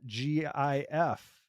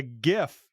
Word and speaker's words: GIF: that ends in dot GIF you know I say it's a gif you might say it's a gif no yeah it's a hard G God damn it I